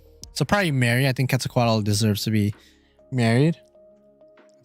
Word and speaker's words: Quetzalcoatl: ] me up quetzalcoatl quetzalcoatl that's apparently how you actually pronounce it quetzalcoatl big sis type